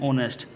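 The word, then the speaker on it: honest: तो ऑनेस्ट को वैसे लिखने में या वैसे तो होता है ये होनेस्ट, लेकिन हम इसको हमेशा जो प्रोनाउंसिएशन होता है इसका वो पढ़ते हैं ऑनेस्ट।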